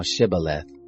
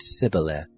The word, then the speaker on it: Shibboleth: If he said no, then they said to him, Say now Shibboleth. And he said Sibboleth, for he couldn't manage to pronounce it right.